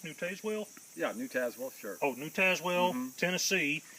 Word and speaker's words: New Tazewell: Is it pronounced New Tazewell? Yeah, New Tazewell, sure.